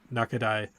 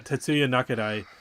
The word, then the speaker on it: Tatsuya Nakadai: know there's a reason they stuck with uh Nakaid or how do you say his name? Tsuya Nakaid Nakadai. Yeah, Tatsuya Nakadai.